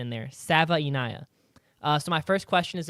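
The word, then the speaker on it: Savaiinaea: I put the phonetic pronunciation in there. Sava-Inaya.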